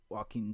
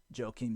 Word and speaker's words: Joaquim: Joaquim Silva, I think it's Joaquim, is how you pronounce his first name, Joaquim.